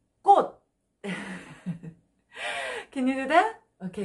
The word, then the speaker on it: 꽃: Because so many students feel difficult to pronounce about 꽃. Flower. 꽃. 더블 기역. 끄끄끄끄끄끄끄끄끄. 꽃. 꽃.